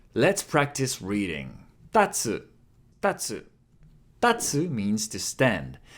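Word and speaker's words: たつ: And here it's funny because if you stress the first character, tatsu, it means to stand. But if you reverse the stress and you put it on the second one, tatsu, tatsu, it means the dragon.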